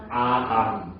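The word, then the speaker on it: אדם: 그 저것도 맵이라는 이스라엘 알파벳인 우리나라랑 똑같이 미음 발음이나요 그래서 다 아암 그렇게 되는 거예요 그서 합치면 아담 이게 되는 겁니다 예 그 사실이 아담이라는 말에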